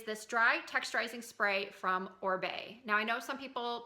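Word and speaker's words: Oribe: and told us that it is in fact pronounced or Bey so hope that helps somebody who was confused on the pronunciation I know a lot of people will say or rebar or eBay or something like that anyway not the point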